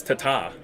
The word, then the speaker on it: Tada: Yeah, Tada and Philip. Tada. I'm trying to say it right. It's T's, not D's. Oh, okay. That's not. It's not Tada. It's Tata. Ta-da.